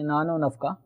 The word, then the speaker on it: نان و نفقہ: میں واو آتا ہے, اور ہمارے اردو تلفظ کے اندر جب دو چیزوں کے درمیان واو آ جائے تو ملانے کے لیے واو کو پچھلے لفظ کے ساتھ ملا کے نان و نفقہ یوں بول دیا جاتا ہے, جیسے لے لو نہار.